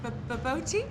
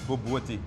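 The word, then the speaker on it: bobotie: It's baboti? Baboti? You pronounce it boboti.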